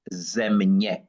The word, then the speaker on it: Země: Uh, Charito, if you close your eyes and you hear the term ZEMње, and this is how it's pronounced, ZEMње.